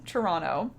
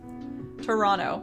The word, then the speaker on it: Toronto: Toronto. Yep, exactly. iHearts, it seems like you knew that. We don't pronounce that second T.